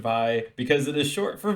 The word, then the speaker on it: Vi: will know her name is VI it is pronounced by because it is short for violence is something